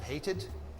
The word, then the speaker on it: hated: want to point out: verbs that end with the T sound or the D sound, like hate or decide, we pronounce the E. So we have hated, Hate it.